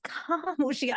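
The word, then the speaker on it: خاموشیاں: And it's also not just Khamoshiyan, no, it is Khamoshiyan. It's the way he's saying it. It's that so full, like, yes, that syllable पे stress is just beautiful.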